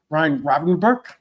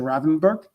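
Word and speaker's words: Gravenberch: Ryan Renberg, I think that's how you pronounce it. Robin Rothenberg. Not even say the G to say the Ravenberg.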